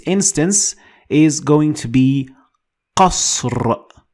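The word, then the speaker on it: قصر: Last example in this instance is going to be qasr. Qasr.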